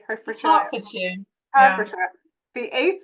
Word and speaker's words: Hertfordshire: Am I pronouncing that correctly? Hertfordshire.